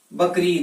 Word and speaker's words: बकरीद: नहीं होता उसी और बकरा धन ईद है और इसका उच्चारण क्या होता है बकरीद होता है तो मूल शब्द के